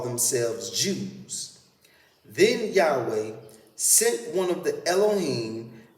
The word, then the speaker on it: Yahweh: y h w h yahweh should be spelled y a h w e h u the first h sound following ya should be clearly pronounced as should the last